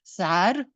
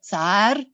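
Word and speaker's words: zahar: In modern Basque, zar or tsar, it's spelled Z-A-H-A-R. It's pronounced differently in different varieties.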